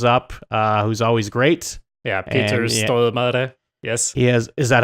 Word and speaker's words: Peter Stormare: Yeah, Peter Stormare.